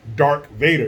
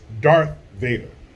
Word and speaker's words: Darth Vader: thought it was Defcon just like a lot of people think it's dark Vader it's Darth Vader but it's Defcon d-e-f-c-o-n